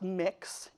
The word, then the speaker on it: Mx.: it's pronounced mix, as an alternative to Mr.